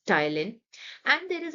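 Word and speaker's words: ptyalin: हम टायलिन भी कहते यहां पर ध्यान देंगे बच्चे यहां पर पी साइलेंट है सो we pronounce it एस टाइलिन and there is अ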